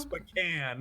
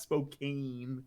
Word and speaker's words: Spokane: pronounced Spokane, not Spokane.